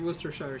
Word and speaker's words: Worcestershire: in here before complaining about how people treat worcestershire sauce so that is the right way i